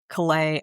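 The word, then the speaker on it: Calais: are slow walking the collay I don't know how to say the word the collay I don't know if I'm right. collay I think collay because of collay France so collay Okay, great.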